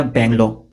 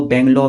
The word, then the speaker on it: bungalow: तो मैंने उसको कहा ये बेंगलो नहीं, ये बंगलो होता है, इट्स बंगलो नॉट बेंगलो।